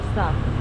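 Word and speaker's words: kumusta: Kamusta?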